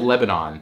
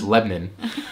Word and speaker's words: Lebanon: that right Le it it's spelled Lebanon but if you say Lebanon to a Tennessee it's Lebon um and they had